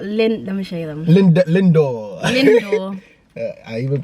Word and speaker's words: Lindor: Some Linda. Yeah, we got Let me show you them. Lindor. I even pronounced it wrong.